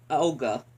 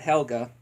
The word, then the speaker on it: Helga: He doesn't care about and it seems like he only cares about Olga, not Helga. Doesn't even say her name correctly, doesn't even remember her own birthday, doesn't even remember what she's allergic to as well.